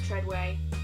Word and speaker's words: Treadaway: It's spelled Treadaway, but apparently it's Treadway.